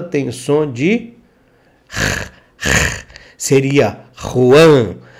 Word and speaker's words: Juan: espanhol/olha pronúncia/tá o J tem som de seria Ruan e se ele poderia se chamar Ruan é com j no Brasil Juan Não não é Juan é Ruan vale então vamos lá continuando nós estamos adjetivando